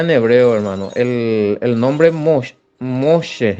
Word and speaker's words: Moshe: Moshe, la H muda.